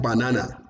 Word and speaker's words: banana: of whites number two the word banana we usually call it banana is not banana but what is banana you can hear that na is louder and then you look